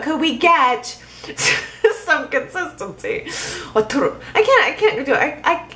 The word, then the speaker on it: Arturo: Tanya says, oh, that was sweet of Arturo to buy Abby a gift.